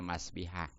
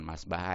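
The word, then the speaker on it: مسبّحة: jari telunjuk yaas itu dengan dibaca kasr banya jadi Bacanya masbihah jangan masbaha ya masbi itu mah emang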